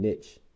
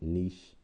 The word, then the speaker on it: niche: And niche, some people also pronounce it niche, but I say niche, is an organism's total way of life.